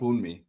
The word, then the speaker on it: Wunmi: Being Wumai. Is it Wumi or Wumai? I've heard it pronounced Wunmi.